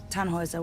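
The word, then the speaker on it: Tannhäuser: why what's your name tanhauser we'd pronounce it tan hoiser with an umlaut german roots yes my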